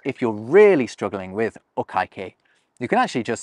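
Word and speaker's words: お会計: way, I should say okaikei. I remember this as being like you've messed up saying okay.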